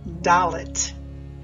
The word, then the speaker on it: Dalet: often dispersed throughout the scriptures the letter is pronounced doit three consonants spell this letter doit lamid and